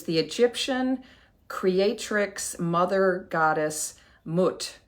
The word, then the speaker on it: Mut: egyptian creatrix mother goddess mutt m-u-t it's not moot i did listen to some pronunciation things i always thought because i know about newt n-u-t and thought it and i think it's somewhere between the long-you and the short you um but moot was